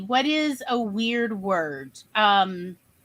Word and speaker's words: chutzpah: Chutzpah. Rhymes with tutzpah.